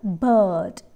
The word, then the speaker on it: bird: vowel sound next word bird bird i and r give out the vowel sound uh uh here again r is silent it is bird bird bird next word